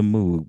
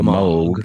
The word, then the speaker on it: Moog: I know some people call it the Moog, but you know, the name is the Moog. It's the Moog Moog. Like Vogue, but we used to pronounce it the way it looked the way.